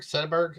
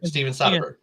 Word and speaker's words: Soderbergh: Is it Soderbergh? How do you say it? There's Steven Spielberg and there's Steven Soderbergh, and they're two different people. Steven Soderbergh.